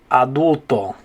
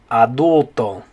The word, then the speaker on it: adulto: in spanish it's going to be the word adulto so in english you say adult in spanish you say adulto so english adult what do you say in spanish good job adulto okay the next one i want to look